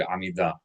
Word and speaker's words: Amida: And we want to accent the last syllable of that word, Amida.